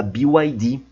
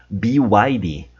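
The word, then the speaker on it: BYD: Toguro não fala inglês, ele tá falando BID, BID. E vocês percebem nitidamente o gerente, o CEO falando be widy, be widy, mas tudo certo, o Toguro não sabe, tudo bem, não tem problema. Mas a gente aqui, nós aprendemos o jeito certo e agora a gente consegue falar certinho.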